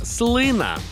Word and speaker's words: слина: не знав що правильно слина слина слина слина слина отже у слові слина наголос на перший склад запам'ятали слина інколи коли